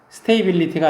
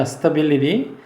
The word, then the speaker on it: stability: 여기 unstable이고 이렇게 반대말이고 스테이블의 명사는 이렇게 쓰는데 뭐라고 읽냐면 stability 이렇게 읽어요. stability. stability가 아니라 stability.